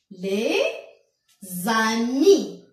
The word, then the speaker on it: les amis: Les amis. Les amis. Donc, je fais la liaison. Je dis les amis.